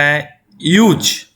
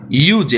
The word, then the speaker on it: huge: बिग, और बिग का similar word होता है, यहां पर दे रखा है यूज। देखो ये ह्यूज नहीं है, यूज है। क्या है? यूज, H साइलेंट है, ठीक है ना।